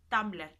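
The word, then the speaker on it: Tumblr: la tierra que antes sabes que se pronunciaba tumbler le decía tumbaron civil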